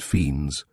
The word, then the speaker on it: Fiennes: Gilly Blossom, you know her, of course, and Chick Fiennes, she pronounced it Fiends.